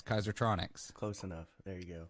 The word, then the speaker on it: Kaisertronics: from kaiser uh kaisertronics almost at kaiser electronics but that's not right it's kaisertronics close enough there you